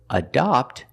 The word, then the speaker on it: adopt: And the word adopt has the short O. The sound is ah like stop and hot.